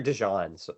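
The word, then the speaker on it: DeJean: had any injuries that got Cooper de back right no Cooper dejan you're saying his name wrong oh sorry my bad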